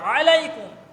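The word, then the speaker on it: عليكم: আলাইকুম বলেন আসসালামু আলাইকুম ওখানে আইন গলার মাঝখান থেকে শব্দটা উচ্চারণিত আলাইকুম এখন আপনি এতটুকু বললেন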